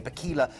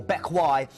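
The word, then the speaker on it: Bequia: Bakila is the first one, or Bekwai as it's pronounced. It doesn't read like it looks.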